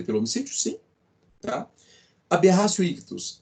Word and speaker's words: ictus: se escreve aberratio ictus pronúncia aberratio uti em latim tem som de c aberratio ictus ok que que acontece